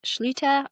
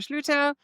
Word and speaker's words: Schlueter: Jennifer Schleuter. I hope I pronounced that one right.